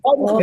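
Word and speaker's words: uma: Entonces vamos a decir como si fuera O. O, ma. Oma. O, Oma. ma. ¿Ves? La pronunciación con vocal O. Pero la escritura sigue siendo con la vocal U.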